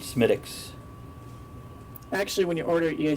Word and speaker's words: Smithwick's: of beer is that this is Smithwick's right am i likes medics and that's how it's supposed to be pronounced from what I understand Semitic s-- actually when you order